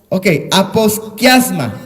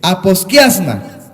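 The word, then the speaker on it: ἀποσκίασμα: En griego es una palabra que se dice o se escribe por lo menos aposkiasma, así de sencillo, aposkiasma.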